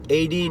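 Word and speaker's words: Étaín: a great example of a concept album 18 18 is spelled e-t-a-i-n 18 is a concept by tim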